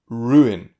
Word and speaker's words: ruin: But look at this one, ruin. That is less obvious, but it is still 2 syllables. So the U and the I is not a diphthong. The U belongs to syllable 1 and the I belongs to syllable 2.